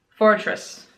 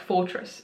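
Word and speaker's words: Forretress: Fortress. Like fortress, but forest.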